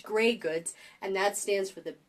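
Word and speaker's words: greige goods: But I mean, it's pronounced gray goods, and that stands for the basic woven fabric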